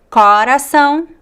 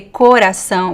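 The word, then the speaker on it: coração: with the bomb um Corazon is a great word and it actually can have can be pronounced in two different ways depending on the accent this is one of the topics that I wanted to cover today um sometimes the the oh the pronunciation varies depending on the accent so people some people would say Corazon with the open ah and some people would say Corazon with the closed o so it really depends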